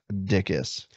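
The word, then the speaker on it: Dickes: last name is dickis yeah pronounced dickis looks like beld d i c k uh e s I imagine going through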